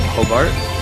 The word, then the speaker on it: Hobart: Hobart.